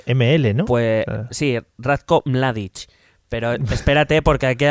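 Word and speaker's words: Mladić: dar ya el primer mini punto por la pronunciación maravillosa de Mladic, que es ML, ¿no? Pues sí, Ratko Mladic.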